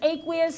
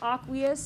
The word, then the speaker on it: aqueous: Right, it means aqueous. Some people pronounce it aqueous. It doesn't matter. It's the same thing. The emphasis is on a different syllable, right?